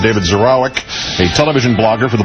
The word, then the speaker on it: Zurawik: David zurk z a w i k pronounced zeroic is is with us again today he's the